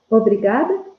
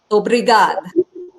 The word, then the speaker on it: Obrigado: Obrigada. Obrigado.